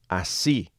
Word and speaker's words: así: Just say the word así, A-S-I, with an accent on the I.